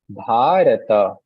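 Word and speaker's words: भारत: Similarly here, you see bharata. Bha, the a is prolonged.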